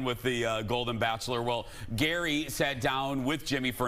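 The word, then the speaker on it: Gerry: How do you pronounce this name? Jerry. Jerry? Yeah. Not Gary. Jerry. Jerry? Jerry. Jerry? Jerry. Jerry? Jerry. Jerry? Jerry? Jerry. Jerry. Yeah. How do you pronounce this? Gary.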